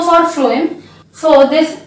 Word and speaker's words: phloem: F for food, so for you pronounce it, F for phloem. So this pronunciation trick will be helpful for learning the type of particles transported from the phloem.